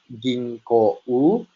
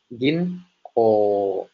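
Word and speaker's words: ぎんこう: Jadi dia tidak dibaca ginkgo U, namun dibacanya panjang menjadi ginko.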